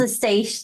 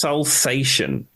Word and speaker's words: Salsation: And this song is Salsation, or I however thought you it want was to pronounce salsa station, like salsa. It's like it looks like Salsa Station, but I think it's Salsation.